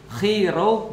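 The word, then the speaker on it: Chi Rho: Nah, jadi XP itu kalau XP bacanya dalam bahasa Yunani, X itu bacanya chi, P itu bacanya ro. Jadi kalau XP, chi ro bacanya adalah Christ.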